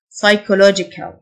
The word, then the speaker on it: psychological: pros pros نفسي psychological ال P silent psychological غرض purpose purpose مرتبط